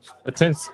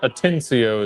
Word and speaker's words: Atencio: Atencio? Atens Atencio is the pronunciation. Atencio is the pronunciation.